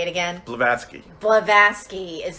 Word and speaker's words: Blavatsky: I can see what wait say it again Blavatsky Blavatsky is saying by that because it does